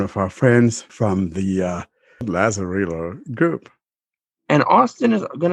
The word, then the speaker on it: Lazarillo: We want to welcome our friend Rene Espinoza from the Lazarillo group. I can never pronounce Lazarillo.